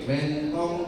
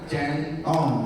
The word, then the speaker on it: Wentong: W DP wentong device pro W-nya Wentong ya. Bacanya wentong. Tapi kalau mau ngomong wentong ya boleh-boleh aja jangan centong. Jangan went ya.